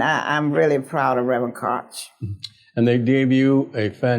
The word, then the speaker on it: Koch: My pastor is Reverend Pastor Kevin Koch. You know, I know it's spelled K-O-C-H, and every time I'm near him, I don't want to call him Reverend Koch. So it's Reverend Koch.